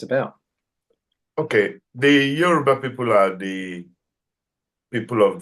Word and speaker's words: Yoruba: How do you pronounce Yoruba? Yoruba, yeah.